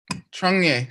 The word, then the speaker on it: Changye: Okay, so this course is about a subject called Changye. Say Changye. Changye. To say it right, you have to open your mouth and go, nye, nye, nye. You can't use your tongue.